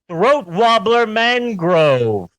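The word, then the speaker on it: Raymond Luxury-Yacht: It's spelt Raymond Luxury Yacht, but it's pronounced Throat Wobbler Mangrove.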